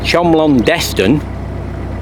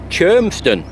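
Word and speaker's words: Cholmondeston: Never say Chomlon Deston, or you'll get an absolute revolution going on with the locals. Believe it or not, the name, or how it's pronounced, that name, is Chermston.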